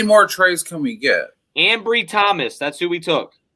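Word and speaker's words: Anbry: tell it it's aver it looks like it's avery but ain't someone but angry thomas it's like ambry yeah a-n-b-r-y that's right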